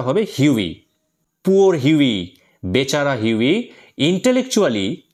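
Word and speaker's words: Hughie: কিন্তু একচুয়াল প্রোনাউন্সিয়েশনটা হবে হিউই।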